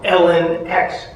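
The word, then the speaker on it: LNX: So my protagonist is E-L-E, pronounced Ellie, and the other version of her is L-N-X, pronounced Ellen X, because there are multiple versions of her that they try to create.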